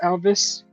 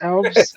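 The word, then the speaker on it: Alves: that way okay yeah it's not pronounced Elvis uh uh it's elves like Elvis like Elvis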